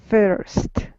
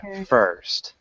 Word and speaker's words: first: can you repeat first first yeah it almost has an e sound too so it's like an er first first nice that was